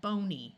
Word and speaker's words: bony: y is a suffix here we have the root word bone and we added the suffix y to get the word bony with a long e sound here we have the